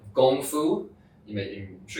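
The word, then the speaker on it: 功夫: so this is called gongfu you may you can show you for the word kung fu yeah yeah so kung fu is another way of pronouncing and gongfu in Chinese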